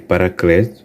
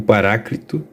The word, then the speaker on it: Paráclito: Independente da sua pronúncia, Não há um problema em dizer Paracleto, porque é a leitura natural na língua portuguesa, mas o Paráclito, ok, é a mais próxima do original grego.